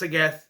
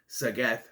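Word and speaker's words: Sageeth: And then she mentions Sagath, pronounced Sagath, spelled Sagith, but Sagath, who is Naman's best friend who will turn on him.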